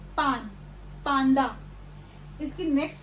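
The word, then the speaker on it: パンダ: सो जैसे कि जो वर्ड्स हैं पांडा विच मीन्स पांडा। सो पांडा में जो ये वाला न है इसको हम न की तरह प्रोनाउंस करेंगे, पांडा, पांडा।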